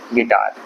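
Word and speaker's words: guitar: ये याद रखिएगा आपको और इसमें है गिटार जी आई गिटार और यू साइलेंट है फिर से उसके बाद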